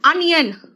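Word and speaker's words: onion: एंड अनियन, अ है pronunciation, ओनियन नहीं है, अनियन है।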